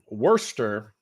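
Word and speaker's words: Worcester: Worester, which is spelled Warchester without the H. Google Maps. So, Worster, what I think Sam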